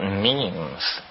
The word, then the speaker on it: memes: last year about about memes you know what memes are memes are the smallest units of a concept they're like genes the word is deliberately constructed to to rhyme with gene and so when i